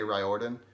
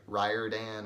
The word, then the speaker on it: Riordan: Rick Riordan I think I used to say Riordan but then I heard him once say that it's like Ryder Dan or whatever yeah like like he knows how